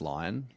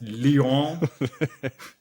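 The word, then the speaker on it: Lyon: Isn't it pronounced lion? Um, it's pronounced Leon.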